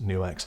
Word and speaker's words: NUX: guys at new X yes I checked it's pronounced new X took a tuning pedal